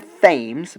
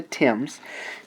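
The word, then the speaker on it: Thames: the Tims in England it looks like the themes but it is not it is the Tims the Tims in England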